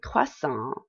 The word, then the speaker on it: croissant: like je vous dre next we have a quest song croissant is a croissant let me pronounce it this is very popular in france